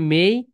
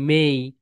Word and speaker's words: May: এই যে মে, এখানে সবাই বলে মে, এখানে সবাই বলে মে, কিন্তু রাইট প্রোনাউন্সিয়েশন হবে মেই, মেই।